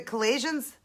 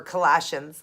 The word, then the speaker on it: Colossians: say it Colon's 1:5 it's a collisions or Colossians sorry guys Colossians 1 5 it says